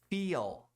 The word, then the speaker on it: feel: Feel. 2 E's tem sempre som longo de I. Você tem que dar um sorrisinho para produzir esse som. Feel. E tem que pronunciar o L.